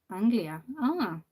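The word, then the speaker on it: Αγγλία: Where I'm from, Tassos, in Greek, England is pronounced Anglia.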